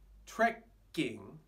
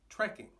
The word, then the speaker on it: trekking: you may have noticed there are two k's in the word but unlike in japanese it doesn't change the pronunciation it's not trekking it's trekking no change now trekking